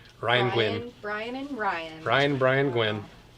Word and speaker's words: Nguyen: And our existing limited edition email list winner is Ryan Gwynn, spelled with an N. Nguyen. Ryan Gwynn.